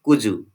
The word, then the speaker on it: could you: Okay, Could is pronounced as kuzu. Okay, in the connected speech.